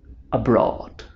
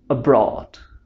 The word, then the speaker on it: abroad: abroad notice that this is a two-syllable word and the stress is located in the second one that means that we have to raise our voice and emphasize it please repeat after me